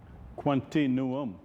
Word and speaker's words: Quantinuum: Quantinuum. And I'm happy to be here, and thanks for having me. Right, Quantinuum.